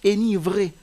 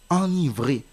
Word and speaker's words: enivré: il y a également le verbe enivré enivré qui s'écrit avec un seul n même si le mot s'écrit avec un seul n vous n'allez pas lire énivré vous allez lire enivré qui veut dire rendre